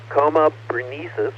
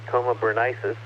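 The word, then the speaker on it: Coma Berenices: is actually a twofer coma bresis or coma beris I've heard it pronounced and both ways it's br's hair and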